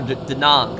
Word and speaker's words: Da Nang: and also the uh the Nang or D Nang I think that's how you pronounce it in Vietnamese it's actually it's a